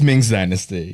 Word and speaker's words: Ming's Dynasty: Is it Ming's Dynasty or Ming Dynasty? It's Ming's Dynasty.